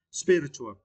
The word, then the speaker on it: spiritual: And for this word, you need to stress the first syllable, spirit. Spirit, right? Spiritual.